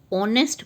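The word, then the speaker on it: honest: Start हो रहा है, बट अगेन एच जो है यहाँ पे साइलेंट है, ऑनेस्ट पढ़ा जाता है, ये होनेस्ट तो नहीं पढ़ते हम, तो इसीलिए आपका यहाँ पे एन आएगा, एन ऑनेस्ट.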